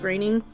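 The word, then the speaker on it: Groening: I think it's graining it looks like groaning but I think it's pronounced graining and I just learned that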